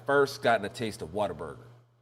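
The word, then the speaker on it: Whataburger: It's like water.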